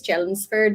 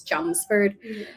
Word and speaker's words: Chelmsford: in Massachusetts called Chelmsford the thing with Massachusetts towns is that they are never pronounced the way they're spelled so I would call this challengeford but she's it's Chelmsford so I sent this